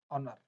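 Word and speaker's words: honour: Okay, अब देखिए next है अपना ऑनर। एच कहाँ साइलेंट रहता है? कुछ वर्ड ऐसे होते हैं जिसमें एच है वो साइलेंट रहता है।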